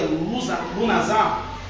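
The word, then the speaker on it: Lughnasadh: O nome Lugnash, ou que se pronuncia Lunazar, tem a sua origem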